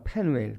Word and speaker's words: 페누엘: 원래 히브리어 그 원어로는 페누엘이라고 발음을 합니다. 페누엘.